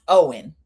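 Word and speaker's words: Eoin: I've never been happier in my Danielle walked down the street with um it's pronounced Owen. E O I E and which annoys me in and of itself, but he's somebody else's husband, everybody.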